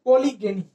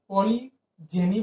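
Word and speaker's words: polygeny: चलो आगे देखते हैं पॉलीगेनी, पॉलीगेनी, पॉलीजेनी बोल सकते हैं इसको, पॉलीजेनी ही बोलते हैं, गलत प्रोनाउंसिएशन था, ये पॉलीजेनी।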